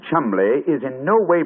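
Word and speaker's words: Cholmondeley: yet no reason to know that the name Chumley is in no way pronounced the way it is stuffed into an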